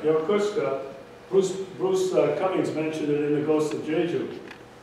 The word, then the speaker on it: Yokosuka: You know what I learned about how do you pronounce it? Yokosuka. Yokosuka.